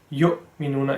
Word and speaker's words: يُؤْمِنُونَ: So it's supposed to be yu because the hamza over there has the same properties as an alif, but because it looks a bit like an ayn, some people pronounce it as an ayn, but that is incorrect.